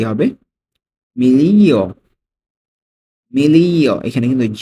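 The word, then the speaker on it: miglia: না এই মাইল এই মাইলের ইতালিয়ান কি হবে মিলিয় মিলিয় এখানে কিন্তু উচ্চারণটা উজ্জ্ব থাকবে মিলিয়া ঠিক আছে জিয়ারের উচ্চারণটা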